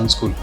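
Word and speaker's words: Unschool: சில பேர் யூஎன் ஸ்கூலுன்னுவாங்க, because அந்த என் உல்ட்டாவாக இருக்கிறதுனால நிறைய பேர் அது யூஎன் தனி ஸ்கூல் தனின்னு நினச்சிட்டு இருக்காங்க. பட் we pronounce it அஸ் அன்ஸ்கூல்.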